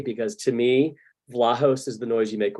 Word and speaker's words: Vlahos: It's a Greek name, and that it would be pronounced in Greece, which is Vlahos. And some of our family has sort of anglicized it, and some haven't. I'm in the camp that does it with the long A, because to me, Vlahos